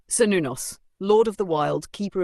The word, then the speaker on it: Cernunnos: Cernunnos, pronounced Cernunnos, is one of the oldest and most mysterious gods of the Celtic world.